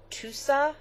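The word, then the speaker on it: tussah: wool and 34 percent tusa silk i guess is how you say it t-u-s-s-a-h so it's this beautiful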